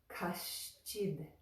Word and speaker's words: Kaścid: And right after that, we've got the ch sound for chid. Kaścid. So when they go together, it sounds more like kaścid. And again, the sound is right behind the front teeth. The. Kaścid.